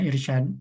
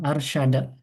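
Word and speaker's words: أرشد: berarti enggak mungkin dibacanya I. Nah, karena kepala kepala ainnya di atas maka dibacanya a seperti itu. Jadi antum tadi baca irsyad apa tadi?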